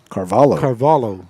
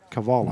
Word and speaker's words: Carvalho: if you spell it out, it's nothing like what it sounds like. Cavallo.